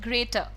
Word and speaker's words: grater: ग्रेटर, लेकिन ये जो ग्रेटर होता है जिसमें आप लिख रहे हैं GRATER और इसमें भी R को प्रोनाउंस ना करें, ग्रेटर, simple ग्रेटर, कैन I have a ग्रेटर, यानी कि कद्दूकस, ठीक है।